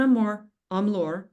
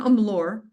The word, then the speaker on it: Amlor: All they care about, especially now, is will Amour Amlor, I said my own name wrong, will Amlor help me make money?